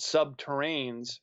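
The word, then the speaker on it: subterrene: these boring machines it's called sub terrains rhymes with submarine but they can their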